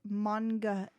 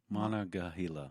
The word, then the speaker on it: Monongahela: It's Monongahela. Monongahela.